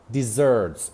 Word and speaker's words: dessert: ئەبێتە بیابان هەمان سپێڵینە بەس pronunciationەکەی فەرقی هەیە dessert شیرینی desert بیابان desert بیابان باشە ئێستا با ئەم